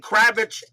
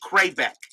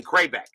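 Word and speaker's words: Kravec: white sox and texas i was pronouncing kravitz it should be super supposed to be cray back so now i know how to pronounce ken kraybeck uh white socks on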